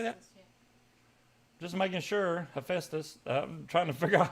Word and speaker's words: Hephaestus: is how you say that just making sure Hephaestus trying to figure out how to pronounce that they're a country yeah we can